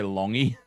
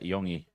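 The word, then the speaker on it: Iongi: Did you just say Longi? I don't know. How do you say his name? Yeah. Isaiah Yongi. Exact.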